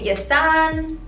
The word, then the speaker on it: Jason: This is the Yasan, it's spelled like Jason, but I think it's Yasan pronounced.